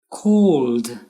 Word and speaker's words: called: Called, cleaned, closed. The ed sounds like a d or d.